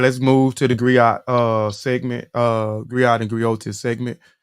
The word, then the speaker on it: griot: A Griot, pronounced Griot, have been referred to as